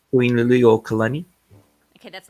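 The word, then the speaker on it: Liliʻuokalani: Queen Liliuokalani.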